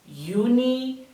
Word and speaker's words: Juni: Remember that the letter J makes the Y sound. Therefore, this will be Januar, Juni, Juli.